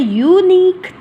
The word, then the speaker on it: unique: This is a unique idea. Unique. U, again the long U sound, and we have to be careful about the sound, not about the words and letters, right?